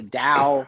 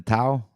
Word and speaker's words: Tao: that was bad but it is the Dow seriously it's the Dow Patrick and since we're working together I need you to pronounce it right because the people out there they need to hear your beautiful voice they need to hear the Dow you want me to